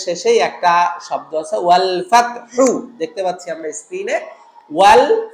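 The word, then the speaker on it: فتح: সো এটা হলো বড় হার জায়গায় ছোট হা উচ্চারণ করলে এই ভুলটা হবে। সুতরাং আমাদেরকে বলতে হবে ইযা জাআ নাসরুল্লাহি ওয়াল ফাতহ, ফাত, ফাত গলাটা টেনে ধরবে, ওয়াল ফাতহ।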